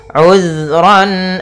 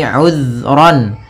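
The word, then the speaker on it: عذرا: Kemudian ayat selanjutnya, uzran aw nuzra. Di sini uzran, hati-hati dalam pelafalan zal, usahakan di sini jangan sampai memantul, jangan uzra gitu ya, tapi uzran.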